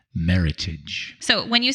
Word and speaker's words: Meritage: you want to say Meritage but they sayit it rhymes with Heritage yes so it's Meritage and then there is